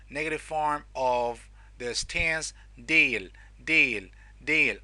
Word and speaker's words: değil: form of this tense, değil. Okay, there's a soft G.